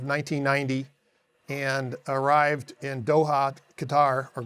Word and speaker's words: Qatar: So we left Torrejon, Spain in August of 1990 and arrived in Doha, Qatar, or Qatar as they say. That's the way they pronounce it.